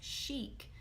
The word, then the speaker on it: chic: That's a good one because it's actually a French word that we've adopted into American English. So it looks like chic, but it's pronounced chic because it's French.